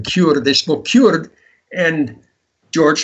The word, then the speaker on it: Kurd: That's the way you pronounce the word, by the way, Kurd.